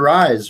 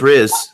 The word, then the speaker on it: Riz: But yeah, I think it's Dr. Rise, right? It's Riz. It's Dr. Riz. She said it's Riz.